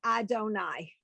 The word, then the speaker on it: Adonai: So all these three things are pronounced Adonai.